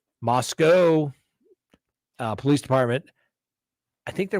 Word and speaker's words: Moscow: think the Idaho the Moscow Moscow Moscow don't mispronounce it don't put the W on there Moscow Police Department I think